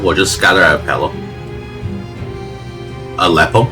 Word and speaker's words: Aleppo: Aleppo, not a pillow. I don't know why I always want to pronounce it a uh it's very strange but uh it's just the way it goes.